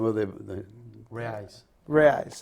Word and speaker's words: reais: It was the No, what is the name of the Reais. reais. It's Spell- the currency. spell that, It- yeah.